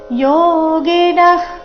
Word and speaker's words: ಯೋಗಿನಃ: ಕೇವಲೈರಿಂದ್ರಿಯೈರಪಿ ಕೇವಲೈ ರಿಂದ್ರಿಯರಪಿ ಯೋಗಿನ ಕರ್ಮ ಇಲ್ಲಿ ಯೋಗಿನ ಆದ ನಂತರ ವಿಸರ್ಗ ಇದೆ ವಿಸರ್ಗದ ನಂತರದ ಶಬ್ದ ಕ ದಿಂದ ಶುರುವಾದ ಕಾರಣ ವಿಸರ್ಗದ ಉಚ್ಚಾರಣೆ ಅರ್ಧ ಖರೀತಿ ಬಂದಿದೆ ಅಲ್ಲಿ ಶ್ವಾಸ ಬಿಟ್ಟು ಮುಂದಿನ ಶಬ್ದ ಕರ್ಮ ಅದನ್ನ ಉಚ್ಚಾರಣೆ ಮಾಡಬೇಕು ಯೋಗಿನಃ ಕರ್ಮ ಕುರ್ವಂತಿ ಕುರ್ವಂತಿ